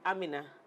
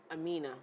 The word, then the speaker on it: Aminah: Because usually it's Aminah. But this one is Aminah.